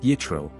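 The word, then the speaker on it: יתרו: the land of Midian his name in Hebrew is pronounced yitro while in Arabic it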